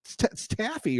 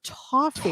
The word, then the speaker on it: toffee: was disgusting no that's that's Taffy or a Taffy it's toffee toffee you we're saying it wrong tofy let me do